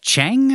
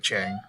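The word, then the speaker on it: Qiang: The servant we saw earlier, or guard, uh, Chang, I think is how you say it. Q I A N G King I think it's I think it's like Chang Chang tries to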